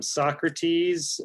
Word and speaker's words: sawcruhteez: It is Socrates, spelled like it's pronounced in the dictionary, SAWCRUHTEEZ.